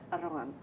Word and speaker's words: arrogant: You have to imagine that there is no letter there.